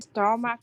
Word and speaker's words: stomach: Stomach. Okay. See how the stomach have the ch at the end? You have to pronounce stomach. K. Stomach. Okay. Stomach. Yeah. Yeah. K with a K.